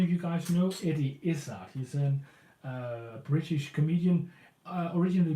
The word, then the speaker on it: Izzard: Eddie, spelled like it sounds, and Izzard with Z's. I-Z-Z-A-R-D. Izzard.